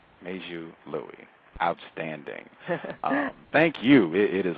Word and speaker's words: Meizhu Lui: my my name is meiju Louie major Louis am I saying it correctly that's right major Louis outstanding thank you it